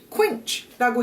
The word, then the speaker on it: quench: quench라고 해요. 영문법 보신 분들은 제가 발음 팁 전해드린 적이 있는데 기억하시는지 모르겠어요. 이렇게 UE 이런 식으로 들어가면 이중 모음이에요. 두 개가 지금 모음이 붙어 있죠. 그러면 UE 두 개가 붙어 있으니까 쾌? 뭐 이렇게 읽나?